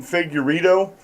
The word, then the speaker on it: Figueredo: Humanist report with Mike Figueredo is how you pronounce his name, Figueredo, over to Humanist report.